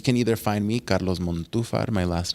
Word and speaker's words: Montufar: Instagram yes you can either find me Carlos mom too far my last name is mo far2 I said month too far yeah I said it wrong the first time